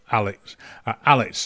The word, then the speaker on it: Alex: don't pronounce the a Alex Alex right you don't pronounce the a at the end Alexandra is a girl's